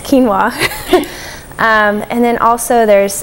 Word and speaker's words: quinoa: is hard for a lot of people to pronounce because it looks like quinoa but it's quinoa um and then also there's things like um